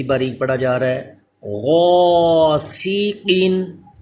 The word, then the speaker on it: غاسقین: پڑھا جا رہا ہے۔ غاسقین، یہ الف پر ہوگا کیونکہ حروف مستعلیہ ہے غین، اور قاف بھی پر، سین باریک ہوگا البتہ۔ غاسقین، طعامین، طا